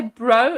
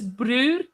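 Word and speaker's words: bru: So they don't say bro, it's brew, my brew.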